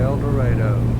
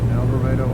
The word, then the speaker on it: El Dorado: we are headed to El Dredo. El Dorado, Arkansas, not El Dorado, other places. Cases spelled the same way but pronounced differently.